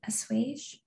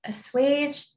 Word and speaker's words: assuage: i conclude my emails trying to assuage is how you pronounce it a swage it's a fancy word but i like it assuage the other person's anger